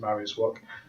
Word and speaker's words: Mariusz Wach: Other biggest names on there would be the most notable one would be Mariusz Wach, or depends how you pronounce it, but I pronounce it Mariusz Wach, who's a Polish heavyweight